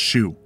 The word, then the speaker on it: SHU: the special housing unit shu pronounced shoe for assaulting another prisoner